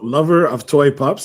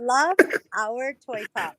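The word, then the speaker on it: Love Our Toy Pups: Lover lover of toy pups. Is that how we pronounce it? It's You always say lover of our toy pops.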